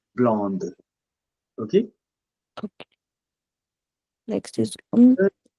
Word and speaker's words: blonde: Dans ce cas, then we pronounce D, blonde.